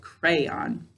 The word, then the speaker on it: crayon: let's try that so first i'll put the stress on the first syllable crayon now i'll put it on the second syllable crayon glass which of those ways sounded right crayon or crayon it sounded right with the stress on the first syllable right crayon all right let's try